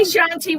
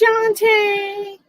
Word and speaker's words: Shantae: I said her name wrong. I've been saying her name wrong. She yelled at me last time. I was like, excuse me. My name is Shantae.